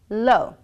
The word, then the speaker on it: low: whoops sound for example the word lo is spelled low:11 we simply say lo l and o the W sound is